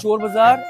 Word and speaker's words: Chor Bazaar: This is Chor Bazaar, but initially it was supposed to be Shore Bazaar because of all the noise. The British couldn't hear it properly, and they pronounced it Chor Bazaar, and the name has stuck ever since.